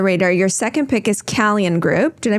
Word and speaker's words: Calian: Okay, speaking of under the radar, your second pick is Calian Group. Did I pronounce that right? Yeah, I pronounced it Kalian, I think. Kalian.